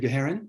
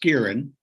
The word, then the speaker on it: Geherin: independent Bookseller uh let's move to guaran and tell us about the crime world of Michael Connolly okay uh two minor Corrections uh my name is pronounced Kieran Kieran okay and I also corrected my laptop problem